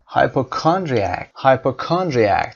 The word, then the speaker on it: hypochondriac: hypochondriac تلفظش رو دقت داشته باشید. hyper صدای شو دارید اینجا، chondriac استرس روی کا و صدای ا در انتها.